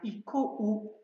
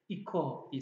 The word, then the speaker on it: 行こう: Yani bir ses eğer o ile bitiyorsa, buradaki iko'daki ko sesi gibi, ko, to, so, no gibi o'lu sesle bitiyorsa, bunun sonuna u getirdiğimizde biz bunu uzatma olarak kullanıyoruz. Yani iko u değil, iko, iko diye seslendiriyoruz.